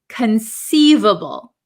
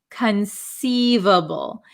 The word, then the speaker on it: conceivable: set of words um the first word is conceivable conceivable so this C uh is not a hard C it is a soft C conceivable conceivable okay so